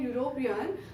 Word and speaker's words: European: But when we pronounce the word university and European, the sound begins with Y, and that is a consonant.